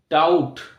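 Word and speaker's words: doubt: ডি ও ইউ টি ডাউট অর্থাৎ sorry D ও you sorry এখানে বি টি ডাউট ডি ও ইউ বি টি ডাউট এখানে be silent অর্থাৎ বি এখানে আমরা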